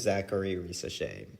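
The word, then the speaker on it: Zaccharie Risacher: My next is Zachary Risacher. That is how you pronounce his name.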